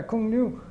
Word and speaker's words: Cuong Nhu: I couldn't even pronounce it. And they said, no, Cuong Nu.